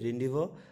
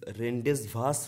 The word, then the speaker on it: rendezvous: তো এখানে যে সিনোনিমটা রয়েছে দেখো, এটা কি রয়েছে, রেন্ডিভো, RENDEZVOUS, রেন্ডেসভাস রয়েছে, কিন্তু রেন্ডিভ উচ্চারণ করব।